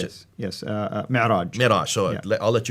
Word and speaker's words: Mi'raj: But that's where called the Mi'raj. How do you Mi'raj, pronounce yes. it? Yes, Mi'raj.